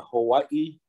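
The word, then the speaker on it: Hawaiʻi: So, what wouldn't it be that even in theirs, it's Hawaii, it's a Hawaii? It's actually a glottal between the two eyes.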